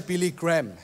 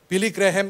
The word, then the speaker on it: Billy Graham: murid dan Dia Cerita Billy Graham ya bacanya harusnya Billy Graham Billy grahem ini punya quote bilang